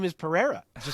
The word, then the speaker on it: Pereira: addict be like hey guys they keep saying pahira 100 times his name is Pereira does it say forever like why doesn't he